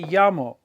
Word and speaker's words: llamo: So if you look at this, we say llamo, we're stressing the A.